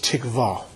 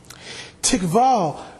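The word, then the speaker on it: tikvah: ian in the hebrew is tick vol it is spelled for your notes TI q VA h TI q VA h tikva tikva means as you saw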